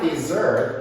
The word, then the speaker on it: desert: And the word desert, you know what desert is? It's not desert, it's desert.